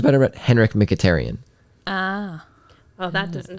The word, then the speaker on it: Mkhitaryan: a blur together it sounds better but Henrik mkhitaryan ah well that doesn't sound anything like I